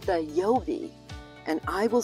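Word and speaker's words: Yeobie: The Oberlin mascot is called the Yobi, and I will spell that for you.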